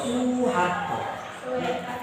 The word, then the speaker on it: Soeharto: Kalau upahnya dalam bahasa Belanda itu tulisannya oe, ya. Soeharto, Suharto. Panjang punya.